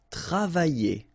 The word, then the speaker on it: travailler: Okay, remember when you've got this E and then double L here and the vowel after. Y. Travailler. Travailler.